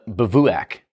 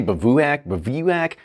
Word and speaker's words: Bivouac: it anyway all right what's the correct way then all right so this is Hirsch the bavouac I used to say babuac bushwack bivwak I don't